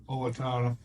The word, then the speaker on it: Owatonna: Owatonna.